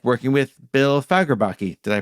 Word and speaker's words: Fagerbakke: What was it like working with Bill Fagerbakke? Did I pronounce that correctly? Yeah, Fagerbakke.